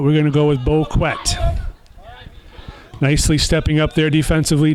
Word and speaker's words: Boquet: A couple polls out there, a Facebook poll and a Twitter poll, and the consensus is Boquet, not Boquet, or Bouquet, or Boquet, but we're going to go with Boquet.